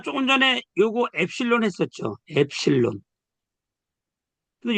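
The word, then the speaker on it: ε: 근데 요게 발음은 뭐라고 그러냐면 엡실론이라고 그래요. 엡실론. 음, 엡실론. 엡실론 하는데 여기 요 발음이 있어요. 에 발음. 그래서 요거는 에 발음이다 이거예요. 에 발음.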